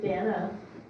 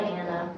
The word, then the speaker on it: Dana: It's Dana. Yeah, I was gonna say your mother, but I couldn't remember how to pronounce her name. I was Sister calling her Diana. Diana, but that's not it.